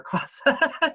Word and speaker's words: CASA: feel like I'm saying it wrong, CASA or CASA.